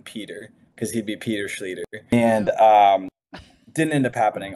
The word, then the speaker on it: Schlueter: Yeah, proper pronunciation is Seph Schlueter. Looks like Schlueter, and many people think it's Schlueter. I've heard it butchered really badly, like Schlueter, or just all sorts of crazy things. But it is Schlueter. Rhymes with eater, leader, meter, feeder, all those fun things.